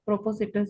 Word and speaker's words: propositus: Propo- propositus you can say like that.